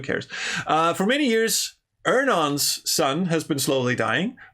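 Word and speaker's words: Earnon: as iron i've ernon is it actually pronounced ernon i've always pronounced it iron okay i learned something today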